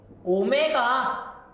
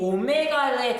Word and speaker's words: 오메가: Vm sin 오메가 t로 구할 수 있습니다. 여기서 Vm은요 최대값을 의미하는 거고요. 얘는 오메가라고 읽습니다. W가 아니고 그리스 문자고요. 오메가입니다.